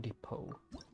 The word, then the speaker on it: depot: Okay, Realm Depot. The pronunciation for D-E-P-O-T depot is kind of weird. Why not depot? Depot? D-E-P-O-T pot? Like depot? Just like teapot?